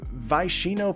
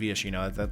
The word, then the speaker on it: Viashino: Next up here, we have is it Vaishino Pyromancer, is how you pronounce it correctly. 2 mana, 2/1. Vaishino Wizard, or Viashino Wizard. I guess it's Viashino.